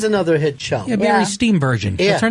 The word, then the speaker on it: Steenburgen: Yeah, Mary Steenburgen.